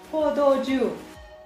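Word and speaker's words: 포도주: I can't pronounce it, but this is the pronunciation. How do you say it? Pordoju.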